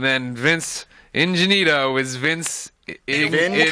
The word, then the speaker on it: Ingenito: And then Vince Ingenito is Vince Ingenito.